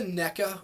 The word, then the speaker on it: NECA: i have all the neca or nika i've heard it pronounced both ways all the nika neca